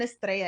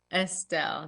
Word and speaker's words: Estelle: I've been saying Estrella. Is it Estelle? Estelle, yes.